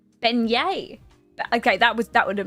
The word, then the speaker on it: beignet: The G is silent. Beignettes. Beignet? Beignet? Beignet.